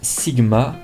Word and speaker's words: Sigma: Le nom se prononce Sigma, notre logo représente un œil, la représentation du logo est expliquée sur le site dans l'onglet Qui sommes-nous.